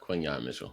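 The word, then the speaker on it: Quinyon Mitchell: gonna be all right quinon Mitchell Quin Yan Quin Yan Mitchell that's how you say it U Get It Right Time out out out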